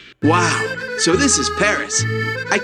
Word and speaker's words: Paris: 16% of the people of France live in Paris. Wow. So, this is Paris. I can't believe that I've never visited the capital of France before. Yeah. Well, the locals pronounce it Pari.